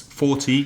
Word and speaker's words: forty: 14 15 16 etc the numbers in their tens forty fifty sixty seventy have the stress on the first syllable so it would be